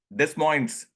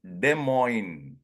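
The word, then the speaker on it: Des Moines: you mean de Mo then only I realize the S is silent it is De Mo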